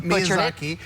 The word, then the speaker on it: Miyazaki: I was teasing you last week about your pronunciation of this, but Miyazaki, who is known as being, they call him the Japanese Walt Disney.